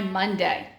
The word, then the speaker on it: Monday: which is fine but my first syllable says ma um and Oh doesn't say ah so there's my trick in my Monday now Tuesday again Tuesday